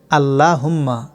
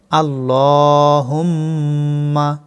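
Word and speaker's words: اللَّهُمَّ: আল্লাহুম্মা। অনেকে ভুল করে বলেন আল্লাহুম্মা, এটা ভুল। সঠিক উচ্চারণ আল্লাহুম্মা।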